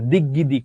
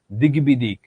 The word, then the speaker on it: দিগ্বিদিক: দিগ্বিজয় মানে দিগ্বিজয় বা দিগ্গিদিক এমন না, দিগ্বিজয়, দিগ্বিদিক, ঋগ্বেদ, এইরকম।